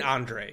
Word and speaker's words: Andrzej: Anything I need to know about pronouncing this guy's first name? I've just been saying I've been saying Andre cuz I don't know how to say.